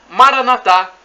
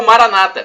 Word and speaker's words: Maranatha: bem e do aramaica Maranatha como dizemos nós católicos com a tônica na última sílaba ou Maranata como dizem nossos irmãos separados os evangélicos ou protestantes não importa é a pronúncia não importa o significado